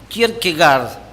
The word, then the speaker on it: Kierkegaard: un teólogo danés del siglo XIX, llamado Søren Kierkegaard, con 2 A, Kierkegaard. El dicho pronunciado por Kierkegaard versa así: la vida hay que vivirla hacia adelante, pero solo se puede comprender hacia atrás.